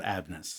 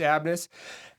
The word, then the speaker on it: ABMNUS: How is it pronounced? Company is called Abnes. Abnes. It's that it's that extra N in the middle that just screws me up. But we're just it's Abnes and thanks for joining me first of all.